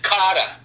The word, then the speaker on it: Kotter: You know, so, you know, it's so weird how the accent of Brooklyn affected the spelling of the name.